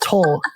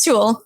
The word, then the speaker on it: Tul: I said it wrong with Lyndon. It's not Tul. Tul. It is Tul.